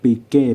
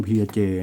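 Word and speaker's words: Piaget: แถม นาฬิกา ระดับ โลก ไอ้ ที่ เา้า เรียก ปีเก้ ปีเก้ เนี่ย นะ ฮะ เข อ่าน ออก เสียง ว่า เพียเจ นะ แต่ ถ้า ภาษา บ้าน เค้า จริง ๆ เรา ไม่ รู้ เรา ไม่ มี ความ เห็น เรา ก็ ไม่ รู้ นะ แต่ ถ้า ใน หนังสือ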